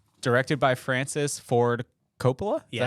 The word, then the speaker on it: Coppola: The Godfather, Part 1, directed by Francis Ford Coppola. Is that how you say it? Hey, Coppola?